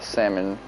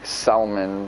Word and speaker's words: salmon: Show them I got got a salmon. I used to always say salmon, but not anymore. I get it. Now the L is silent just like my L's in life.